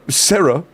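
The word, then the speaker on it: Sera: Your name is pronounced exactly like Sarah. Oh god, I just realized that S E R A is pronounced the exact same way as S A R A.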